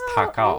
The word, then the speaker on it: Takao: If you pronounce it in Japanese, it's Takao.